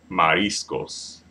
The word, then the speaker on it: mariscos: Los Mariscos okay no Mariscos Mariscos Mariscos Mariscos trying to accentuate that IR part because again that second to last syllable when it ends in the S Mariscos and that is